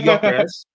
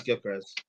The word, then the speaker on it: Gyökeres: Well, his name is actually Gyökeres, is how you say it in Greek, but everyone says Gyökeres.